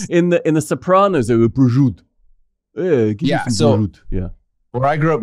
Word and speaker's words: prosciutto: Prosciutto. Prosciutto. Yeah, I think you say, okay. Why is the O silent? I think only, they only say in the Sopranos, they go prosciutto.